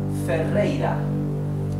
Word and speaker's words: Ferreira: Therefore it is pronounced R, right? The soft sound, ra, ra, ra. So this is Ferreira. Let me separate it in syllables. Ro, dri, go. Fe, rei, ra.